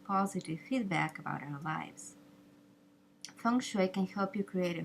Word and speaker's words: Feng Shui: But the standard pronunciation for the art in the United States is Feng Shui. So remember, Feng rhymes with sung, and Shui rhymes with sui.